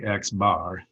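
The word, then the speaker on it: x̄: to pronounce that you you just say the sample mean of x sometimes i'll just say x bar that's the sample mean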